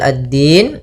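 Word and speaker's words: الدين: Kemudian pelafal addin. Di sini ada hukum tajwid berupa alif lam q maaf alif lam syamsiyah. Alif lam syamsiyah yaitu alif lam yang ditulis tapi tidak dibaca langsung ke huruf dal.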